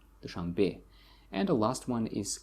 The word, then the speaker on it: Dushanbe: You see the stress falls on the last syllable, Dushanbe.